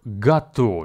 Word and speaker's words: готовить: to cook the verb gato which has three syllables go vit and the stress falls on the second syllable please be advised that the first syllable go is actually pronounced as ga now listen again and